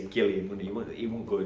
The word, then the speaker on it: Gilliam: He's American, so he'd probably say Gilliam, wouldn't he? He wouldn't go G, he'd go G. Gilliam.